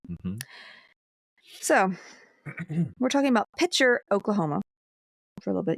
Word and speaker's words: Picher: So we're talking about Pitcher, Oklahoma, for a little bit. You ever heard of Like a water pitcher? it? Without the T.